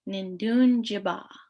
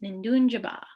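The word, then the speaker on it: Nindoonjiba: would say Thunder Bay Nindun Jiba. Nindun Jiba. So this is also shortened. So you might hear Nindunji in some dialects, but the full pronunciation is Nindunjaba.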